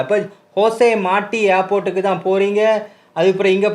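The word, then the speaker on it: José Martí: அங்கே இருக்கிற ஏர்போர்ட்டோட பேரையும் தருது, ஹோசே மாட்டி. அதாவது இது வந்து கியூபாவில் ஸ்பானிஷ் லாங்குவேஜ் தான் பேசுகிறபடியாக ஜேஎண்டு வந்தாலும் அதுக்கு அதை ப்ரொனவுன்ஸ் பண்ணுறது ஹெச் சவுண்டில். அப்போ ஹோசே மாட்டி ஏர்போர்ட்டுக்கு தான் போகிறீங்க.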